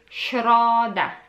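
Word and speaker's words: środa: so tuesday wednesday is schroder s with apostrophe is somewhat same as sh but there's a little difference pronouncing it yeah but polish people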